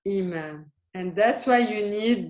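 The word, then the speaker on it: إمام: So if it was with a ya, how would you read it? Yeah. Exactly. Yamam. This is yamam. This is imam.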